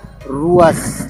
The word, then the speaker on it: luas: Contoh, misal ada kata luas, maka dibaca ruas, luas, ruas, sesuai lidah Dayak Siang.